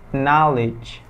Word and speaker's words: knowledge: Well, yang ini juga sering, yaitu biasanya dibacanya itu kalau misalnya dibaca ya knowledge, tapi remember K di sini nggak dibaca, jadinya knowledge.